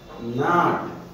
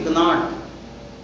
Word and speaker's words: gnat: जैसे उदाहरण के तौर पर देखिए GNAT नाट, ये एक मच्छर होता है, एक विशेष प्रकार की मक्खी होती है। इसका उच्चारण नाट होता है, न कि गनाट।